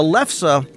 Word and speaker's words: lefse: And I made the mistake of pronouncing it wrong, so I thank Liz for giving me the correct pronunciation. A lefse it's odd because it's